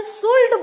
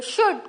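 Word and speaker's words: should: नहीं बोला हमने शुड अरे बहुत जन सुड बोलते हैं कुड बोलते हैं अरे एल तो साइलेंट है तो बोलना ही नहीं है एल है लेकिन एल बोलना नहीं है य शुड कुड उड नाउ इसमें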